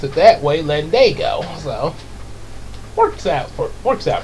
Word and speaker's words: Landago: was how I spelled it but I kept pronouncing it land Diego yeah like sort of like you know land